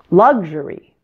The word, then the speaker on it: luxury: me luxury luxury now the word luxurious is a form of luxury but did you notice the stress pattern it's different isn't it luxury luxurious the word